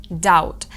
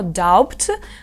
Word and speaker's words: doubt: бути такими Brown borrow Doubt Зверніть увагу на слово Doubt у ньому пишеться літера B але вона не вимовляється і це називається Silent Be ми дуже часто будемо